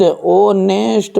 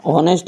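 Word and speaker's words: honest: हैं होनेस्ट, कि ऑनेस्ट, ओनेस्ट पढ़ते हैं, होनेस्ट नहीं पढ़ता है, और इसे पढ़ते हैं आवर, पढ़ते हैं भैयू।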